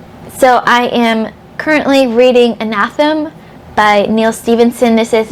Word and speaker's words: Anathem: on um so that anathem's going or in anathem i think is how you are supposed to pronounce it a rich will tell